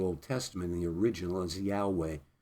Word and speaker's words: Yahweh: Testament the original is Yahweh some pronounce it yehovah but it's more accurately Yahweh and it basically means